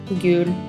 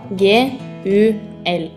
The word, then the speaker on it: gul: color yellow in Norway we call this color gul It is spelled g u l try it gul This is the color Green